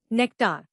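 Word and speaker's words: nectar: नेक्टार नया लफ्ज नेक्टार इसको तोड़ते हैं नेक्टार जोर नेक पर है।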